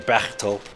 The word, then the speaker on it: Bechtel: Your pronunciation there, Bechtel. They're kind of curly.